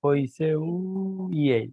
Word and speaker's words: Poiseuille: Y esto que está acá es lo que se conoce como la ley de Poiseuille, y se escribe Poiseuille. Pensé que era una Poiseuille, era una I.